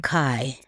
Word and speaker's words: Kai: Kai.